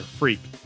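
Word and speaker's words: Freq: story is centered on our player freak and i'm not making that up it's spelled f r eq but i wouldn't blame you if you thought it was spelled f-r-e-a-k we follow his journey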